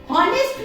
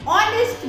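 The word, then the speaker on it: honest: हॉनेस्ट मैन, नहीं, ऑनेस्ट मैन।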